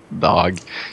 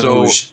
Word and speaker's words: doge: Okay, it's a doge, not a dog. It's a doge. Okay, is that how you say it? Don't look directly at it. Is it not doggy? It's doge. Doge.